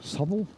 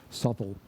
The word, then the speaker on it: Southwell: at southwell in England souel southwell I'm not quite sure how to pronounce it it's probably pronounced souel the other thing that